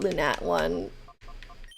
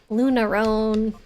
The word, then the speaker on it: Lunatone: I'm gonna call it lunat one there oh there perfect beautiful oh yeah no lunar Stone maybe but not lunarone yeah lunat one that's what we're called you have to say it like that now that's the proper